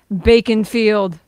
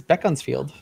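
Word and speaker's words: Beaconsfield: so folk next one bacon field of course beacons field oh it's going to be bacon-filled huh sorry cory what was it bean fee bean fee beefold uh this one heather got it is beckon's field good job next not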